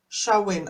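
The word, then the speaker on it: Samhain: no good with names Charmaine a Celtic word pronounced showing oh completely right off I was completely right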